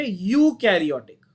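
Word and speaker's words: eukaryotic: अच्छा, तो प्रोटिस्टा में आप लिखोगे यू कैरियोटिक, यू को बोलेंगे यू कैरियोटिक। हाँ, ई साइलेंट है, समझ लो, वेरी गुड, सही बोल रहे हो।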